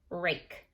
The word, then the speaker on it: rake: I tapped 3 times because I heard 3 sounds. I know that there's 4 letters though that spell this word. That magic E, or that silent E on the end, is making the A say its name.